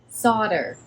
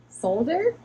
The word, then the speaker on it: solder: Solder. How do you say it in the UK, mate? Solder?